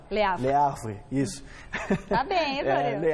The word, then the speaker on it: Le Havre: Você me corrige a pronúncia, você que fala francês. Le Havre. Le Havre, isso.